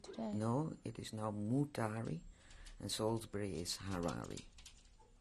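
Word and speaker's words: Mutare: No, it is now Mutari, and Salisbury is Harare. Mutari, how do you spell that?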